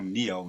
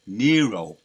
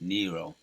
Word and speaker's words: Nero: And I was calling him Neo in my video yesterday. So I'll make a correction on that. It's Nero. Right? That's how you pronounce it, Nero.